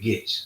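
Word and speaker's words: Goetze: That's how you pronounce that, Getz.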